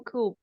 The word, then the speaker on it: coup: English speakers yeah but it's a French word so that's why it's pronounced strange strangely yeah but it's